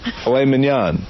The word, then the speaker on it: filet mignon: How do you say it? Mignon? Filet mignon.